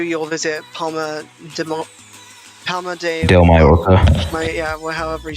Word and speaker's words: Palma de Mallorca: On day 2, you'll visit Palma de Mallorca.